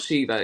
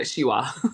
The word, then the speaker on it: Shiva: although pronounced in Banes so it's not Shiva shiwa and they're basically Conjuring